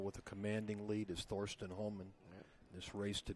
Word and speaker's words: Thorsten: I mean, there's not a lot of Thorstens running around. Yeah. Well, it is German, so it's Thorsten Hohmann.